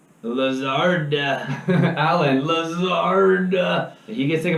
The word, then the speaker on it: Lazard: Lazard.